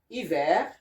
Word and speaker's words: hiver: The H here is silent, okay? And these are the words that goes with, like habitant, habiter, herbe, herbivore, histoire, hiver, honorable, honoré, humain, huard, and hybrid.